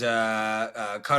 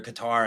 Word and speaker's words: Qatar: I mean, like, I think you guys probably saw in the news, Qatar or Qatar, I mean, depending on how you pronounce it, right?